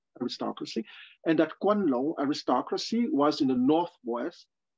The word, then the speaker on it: Guanlong: Yes, it's written G U A L L O N G, and the G is pronounced like a K in the Pinyin system. So Guanlong aristocracy, and that Guanlong aristocracy was in the